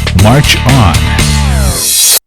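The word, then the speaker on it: mahjong: a 1924 magazine article advised players who often dressed in chinese costumes to play to pronounce its name march on non-traditionalists play modern versions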